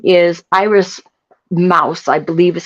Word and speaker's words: Mauss: her name is Iris Mauss, I believe is how you pronounce it. It's spelled Mauss, so I believe it's Mouse.